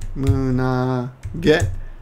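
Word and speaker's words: 胸毛: Mune is chest, but when you put these together, these two, chest and hair together, you pronounce it munage.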